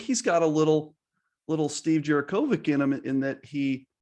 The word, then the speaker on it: Djurickovic: Now, tell me if I'm pronouncing, because I think it's Djurickovic with just a C, but I think is it Bulatovich? Bulatovich for him, yes. The CH, right.